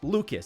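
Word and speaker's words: Lukes: It's spelled L-U-K-E-S like Luke's, but it's Lucas.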